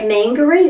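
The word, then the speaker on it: Māngere: Mangere. So people say mangere or numerous other pronunciations.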